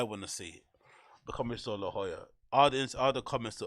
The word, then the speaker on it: La Jolla: before I call it La Jolla the Jolla but it's actually pronounced La Jolla like I think because you can't pronounce the J's in Spanish it's like yeah there's